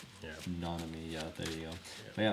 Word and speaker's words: Nanami: I feel like I'm saying his fucking name wrong. Nonami. Yeah. Nonami.